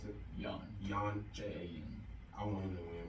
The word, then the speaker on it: Jan: pronounce it? Jan.